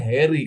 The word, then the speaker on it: Harry: Bahasa Inggrisnya Harry kan dibacanya bukan Hari gitu.